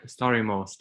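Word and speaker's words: Stari Most: i've visited i think the starry most is it most or most sorry story most yeah you got it right okay good also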